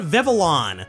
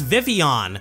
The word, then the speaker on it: Vivillon: Some people call it Vivillon, but the official pronunciation is Vivillon. The double L makes a Y sound.